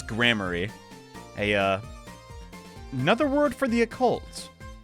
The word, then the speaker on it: Gramarye: Apparently, it's pronounced Godot. No, it's grammary.